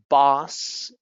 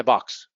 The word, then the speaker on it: boss: Boss versus box. People many times say, I have to talk with my box. My box. I don't know why they confuse it, but my box.